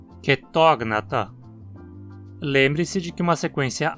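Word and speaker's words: Chaetognatha: Todos os três próximos filos também possuem uma vogal curta na penúltima sílaba, então a pronúncia precisa ser com acento na antepenúltima. Tardígrada, acantocéfala, quetógnata.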